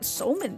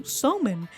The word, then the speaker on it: somen: Over time, that pronunciation went from sakube to sakumen to somen, a wholly different food.